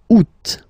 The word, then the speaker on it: août: The first one, you don't pronounce the final T. Ou. Ou. Ou. Second one, you pronounce it. Août.